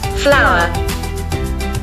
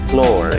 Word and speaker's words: flower: saya sering ucapkan itu Flower. Floor ya, harusnya flower. Flower. Saya practice floor. Hasilnya salah ya. Nah, situ juga ada revisinya, au-nya nggak ada dari flower harusnya, jadi pronunciation ini sama dengan bunga.